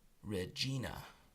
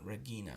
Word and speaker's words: regina: so just piccata sins the letter G is hard when followed by ease and eyes so we say read Gina not Regina we say Regina which is a queen and so with Gina it sounds just like most girls name the name and I think that there's a city in Canada Canada called Regina so we say Regina but